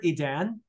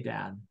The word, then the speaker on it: Edan: I was a bit surprised when I heard you pronounce it the first time, because I would have pronounced it more like Eden than Edan.